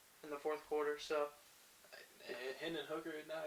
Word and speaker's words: Hendon Hooker: Hendon Hooker, isn't that how you say it? Yeah, Hendon Hooker.